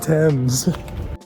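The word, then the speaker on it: Thames: It's called Temps.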